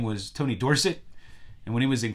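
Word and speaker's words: Dorsett: Tony Tony Dorset his original name was Tony Dorset and when he was in college and and he was getting famous uh for breaking the record and uh somebody mispronounced his name were set and he liked it he thought it sounded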